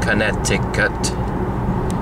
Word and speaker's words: Connecticut: And that is pronounced Connecticut, for those who aren't sure.